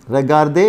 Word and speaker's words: regardent: Regarder is to look at. Je regarde, tu regardes, il regarde, elle regarde, nous regardons, vous regardez, il regarde. R-E-G-A-R-D-E-N-T. We don't pronounce E-N-T, regarde.